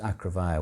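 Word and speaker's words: Acrefair: mother came from called acrovaya which is a-c-r-e-f-a-i-r with a funny spelling like acre fair but pronounced acrovia well she's uh quite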